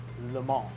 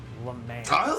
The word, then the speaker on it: Le Mans: 24 hours of le mans and yes it's pronounced le mans not le mans said it i almost i almost said it's